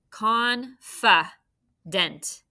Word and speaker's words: confident: think you should be confident with the first syllable con go on right c o n now be careful here con fa dent what are we going to do with f